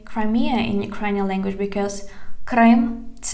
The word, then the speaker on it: Крим: how to say Crimea in Ukrainian language because Крим – це Україна. Крим, Crimea, Крим. And the full name of the peninsula is the Autonomous Republic of Crimea. Автономна Республіка Крим.